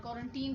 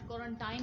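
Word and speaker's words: quarantine: तो छुट्टियाँ भी हैं और क्वारंटीन भी है, और क्वारंटीन कह लें या क्वारंटाइन कह लें, प्रोनाउंसिएशन डिफरेंस है अमेरिकन एंड ब्रिटिश।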